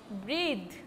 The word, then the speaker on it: breathe: Breath is noun, but when you will add E after that breath, it will be breathe.